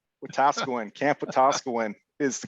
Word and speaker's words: Wetaskiwin: How do you pronounce the right answer? Wetaskiwin. Wetaskiwin, Camp Wetaskiwin is the correct answer.